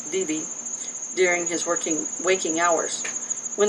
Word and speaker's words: Wee-Wee: Tiel was a good mother and requested the middle of the night work so that she could be with Wee-Wee, pronounced Vivi, during his waking hours.